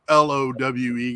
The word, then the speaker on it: Lowe: I don't know but the other l-o-w-e guy Josh is not Kent to him and he is called Low so you have a